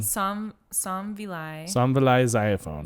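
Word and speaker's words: Somvilay Xayaphone: And then written and storyboarded by Kent Osborne and Somvile Xylophone. Yeah. Not xylophone. Somvile Xylophone.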